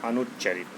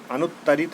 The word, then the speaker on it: अनुच्चरित: अनुत्तरित नहीं, अनुत्तरित मतलब बिना उत्तर का। ये उच्चारण शब्द दिया है, बहुत ही इनिशियल पॉइंट पे जाके जल्दबाजी में अनुत्तरित मत मार दीजिएगा। अनुच्चरित होगा, अनुच्चरित जी होगा, ना कि अनुत्तरित।